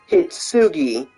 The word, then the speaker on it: Hitsugi: somebody hit tsugi yes her name is pronounced hitsugi literally the English dub does pronounce her in her Japanese name um so you know